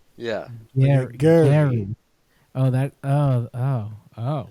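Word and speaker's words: Gerry: G E Turner it's so they say it's in like phonetic spelling how to say his name g a i r hyphen e e Gary Gary Gary Gary Gary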